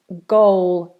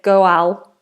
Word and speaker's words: goal: Look at that pronunciation. Goal. G, g. Obviously, it looks different. Some people say goal, but it's goal.